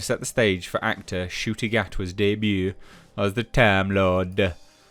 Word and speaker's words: Ncuti Gatwa: Russell T Davies' hearts are in the right place, but the introduction of Ncuti Gatwa, that's apparently how you say his name, new Doctor, was marked by a number of questionable decisions and racist tropes.